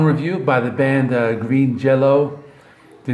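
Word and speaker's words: Jellÿ: it's still green and jello i think like the y with the two dots over it is pronounced like an o or i don't know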